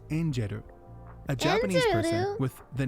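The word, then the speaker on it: 天使: that this is their name and it's not pronounced tenshi it's pronounced injeru a Japanese word with the name tenshi which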